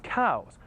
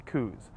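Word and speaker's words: Coues: goodbye if you're wondering the proper pronunciation is cows although a lot of people still say coos either way they're a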